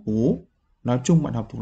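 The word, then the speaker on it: 不: từ này á Ở Chúng ta đọc là củ nhưng nó đi với từ xin đằng sau này thì nó đọc là cố nói chung bạn học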